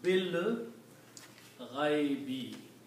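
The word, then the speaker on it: بالغيب: When you read this together, you do not pronounce this alif, and you combine ba with lam, so it becomes bil ghaibi.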